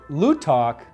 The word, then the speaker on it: Lootok: Many times, particularly on the phone, we'll have people spell it out. L-O-O-T-O-K. Lootok is a Native American word, and it comes